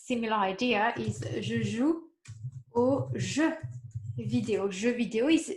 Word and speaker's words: aux: Even though there's an X at the end, I do not pronounce that X, okay?